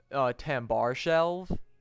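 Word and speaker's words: Tambarskjelve: So that's probably Tambar Shelv. Because usually the SKJs are like a sh sound, right?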